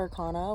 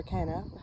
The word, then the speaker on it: Arcana: them is called called the minor Arcana which or or the minor archana whichever way you want to pronounce it which is the suited